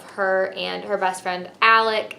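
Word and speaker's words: Alik: and her best friend alec i'm pretty sure that's how you say his name it's spelled a l i k so i feel like that makes sense but i'm never sure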